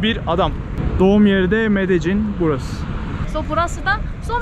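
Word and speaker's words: Medellín: Ya Medellin diye yazıyor, Medellin diye okunuyor. Kolombiyalılar Medellin diyor.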